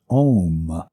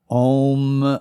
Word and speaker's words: Om: Sanskrit sound of M and that is often mispronounced as om but the sound is om and chanted it sounds like in 1975